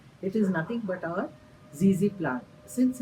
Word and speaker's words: ZZ plant: It is nothing but our zezy plant.